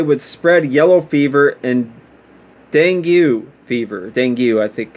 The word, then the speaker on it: dengue: the hopes they would spread yellow fever and dengue fever thank you i think i might be pronouncing that wrong i haven't heard of that